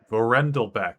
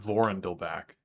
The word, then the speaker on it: Vorendelbeck: Vorendelbeck is how you would pronounce that, Shaorath. Not Vorendelbach.